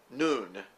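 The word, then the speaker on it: νῦν: And it's the little Greek word nun. N-U-N is the way we would spell that.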